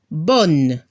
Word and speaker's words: bonne: Ejemplo, bon, bonne. Al femenino se debe escuchar a la N final y no se pronuncia la E.